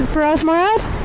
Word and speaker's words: Feras Morad: We are going to the memorial service for Feras Morad. Did I pronounce his name right? Feras Morad?